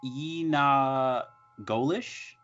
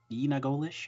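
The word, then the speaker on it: yee naaldlooshii: it in their language so Navajo is pronounced Yi na goldish Nina goldish I'll probably just butcher that okay and so the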